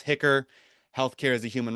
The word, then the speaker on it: HCHR: You may sometimes see the uh abbreviation HCHR which we pronounce hicker healthcare as a human right Washington can be a bit of a mouthful. Um, so you'll forgive me if occasionally I just say hicker.